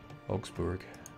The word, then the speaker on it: Augsburg: The U in Berg is pronounced like a moo. Augsburg. It doesn't sound right. Augsburg.